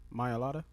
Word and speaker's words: Mailata: How you pronounce his name? Mailata.